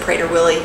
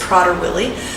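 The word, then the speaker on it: Prader-Willi: more about prodder willie i used to pronounce it prater willi you might have been too but i've learned that it's prodder willie and and if you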